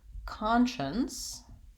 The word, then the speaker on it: conscience: psy or site but I don't say science in conscious conscience my letter SC makes the SH sound in this word conscience has first syllable stress and so that's one